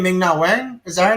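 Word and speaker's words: Ming-Na Wen: Ming Na Wen?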